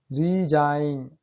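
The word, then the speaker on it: resign: Rule number 6 है, यदि किसी शब्द में एन से पहले जी आए तो जी साइलेंट रहता है।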